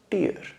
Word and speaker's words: tear: तो हम बोलेंगे इसको टियर अ तो और इसको प्रस प्रोनाउंस कैसे करेंगे आप प्रोनंसिएशन इसका होगा टी प्लस यर जैसे आप यर बोलते हैं कान वाला यर टियर यर टेर आप जब